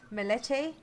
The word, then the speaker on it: Melete: I suppose that brings us over to your 3 Melete programs. Okay, so I'm pronouncing that correctly. You are.